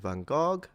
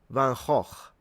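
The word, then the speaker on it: van Gogh: Okay, we've got how to pronounce Vincent Van Go or is it Van Hawk? I think that's how you pronounce it. Van Hawk. But you guys tell me if I got that one wrong.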